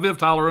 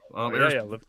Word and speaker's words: Liv Tyler: It's got Viv Tyler in it. Did I say her name? Oh, Liv Tyler.